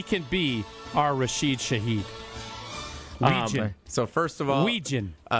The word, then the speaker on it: Wetjen: W-E-T-J-E-N. Weetjen. It's pronounced wet. Is he Norwegian? Phonetically, it's Wetjen, but it's Weejan.